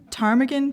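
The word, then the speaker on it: ptarmigan: but uh the silent the silent silent P so to explain um a winged reptile a pterodactyl as in PT etc etc um and I think there's a game bird and again I don't know how to say this called a tarmigan PTA or m-i-g-a-n absolutely right and that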